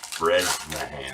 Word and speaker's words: Bresnahan: How do you say that one? Bresnahan. Bresnahan, that's right.